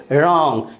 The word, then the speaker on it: wrong: WRONG, क्या पढ़ेंगे इसे रॉन्ग ना कि wrong।